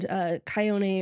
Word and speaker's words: Chione: Chione, if it's Latin. I was looking at the little pronunciation thing on Wikipedia, and it said like it was a hard K.